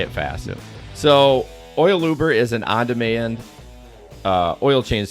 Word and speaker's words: OilUber: OilUber.